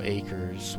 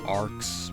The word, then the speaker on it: Acres: called Sweet Apple Acres, which I thought it was pronounced as Arcs, but I guess it should have been obvious for me that it wasn't pronounced that. I mean, Arcs is spelled with A-R-C, not A-C-R.